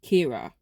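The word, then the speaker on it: Ciara: Then we have AJ and we have Kira. That is spelled like Sierra, but Kira, because it's Irish.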